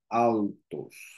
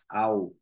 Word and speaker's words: altos: I don't read like altos. I read like altos. We switch the L for U.